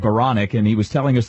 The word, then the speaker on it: Baranek: Baranek, I'm sorry, I keep reminding myself it rhymes with bionic, Baranek, and he was telling us the story about how he got his call sign, Bio.